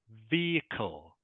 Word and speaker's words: vehicle: word here is pronounced vehicle vehicle vehicle vehicle vehicle yeah the H the H is actually silent okay so the H